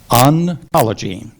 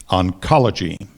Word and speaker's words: oncology: sure it's a noun are there any alternative pronunciations there is let's see if I can get this out oncology oncology or oncology may I have the